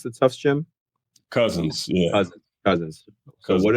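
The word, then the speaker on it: Cousens: What is your favorite gym to play in besides uh how do you pronounce the toughs gym? Cousins.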